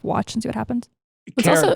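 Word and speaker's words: Karat: Carrot, by the way, spelled with a K. If you're Googling along as we go, K-A-R-A-T.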